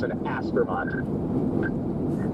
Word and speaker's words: Aspermont: Aspermont. Okay. So, Aspermont has three syllables. It's ask for Mont. As for Mont.